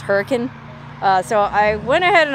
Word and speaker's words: Hurricane: it looks like the word hurricane but it's pronounced hurricane so i went ahead and i booked a